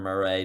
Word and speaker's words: Murray: Well, Kyler Murray, right? That's his last name. That's how you pronounce it.